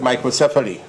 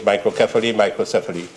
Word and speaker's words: microcephaly: Now, if we have patients with microcephaly, it's pronounced both ways, microcephaly, and there are other etiologic causative factors for microcephaly, as my colleague from Faisabad, a gynecologist like myself, know.